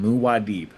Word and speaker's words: Muad'Dib: Muad'Dib. I'm glad you let me know. That's how you pronounce it.